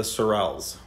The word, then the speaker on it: Sorels: So he picked out some top-notch drivers, and the project is called the Sorels. So the name is because Sorel rhymes with Morel, and his name's Sonu, so it's a kind of a cool, catchy name.